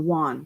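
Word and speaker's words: yuan: dollar and the Yen or Wan and the WAN China's yen is Japan I apologize that's the WAN which is spelled y u an did you kind of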